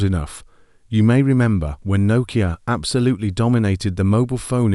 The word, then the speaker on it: Nokia: First of all, despite being a Finnish company, they're actually pronounced Nokia, not Nookie.